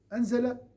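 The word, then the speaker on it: أنزل: Anzala en une seule fois. Nazzala, regardez même au niveau de la prononciation. Anzala, une seule fois. Nazzala. Il y a cette ralenti.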